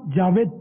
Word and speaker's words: جاوید: ان کا اصل نام جاوید تھا، جو کہ مجھے سمجھ میں نہیں آتا، اصل اس کا تلفظ تو ہے جاوید، جاوید من ہمیشہ رہنے والا، ہمیشہ رہنا کس نے